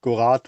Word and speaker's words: Gorard: to introduce jonathan jones we tried to find out whether that was french or not and how to pronounce it but gorath was the accepted one of the accepted variants anyway so jonathan is in